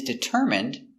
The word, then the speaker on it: determine: his goal he is determined to learn English determine d d t d ER deter M determ determ it deter Det determine determine determine determine stresses on the third syllable determine determine determine what